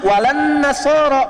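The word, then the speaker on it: ولا النصارى: Cuman kita bacanya pakai eh kan alif lamnya syamsiyah tuh ya. Lamnya masuk ke nun. Walan nasara. Padahal itu tulisannya la wala annasara.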